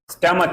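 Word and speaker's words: stomach: without an एंग स्टमक बिना स्टमक स्टमक स्टमक उच्चारण है इसका स्टमक यानी पेट बिना पेट दुखे अगर हम श्याम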